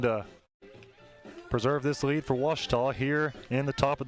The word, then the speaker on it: Ouachita: at a baptist university back in texas everybody pronounces it wichita but really it's ouachita washington washington how would you pronounce it it's